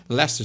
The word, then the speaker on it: Leicester: Que se escreve Leicester Square, mas eles falam Leicester Square.